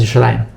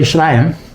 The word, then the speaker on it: Yerushalayim: So if you think about the word Yerushalayim, it rhymes with like a bunch of other words, like Nalayim and Shumayim and Grabayim and Mechnasayim and Oznayim and Inayim.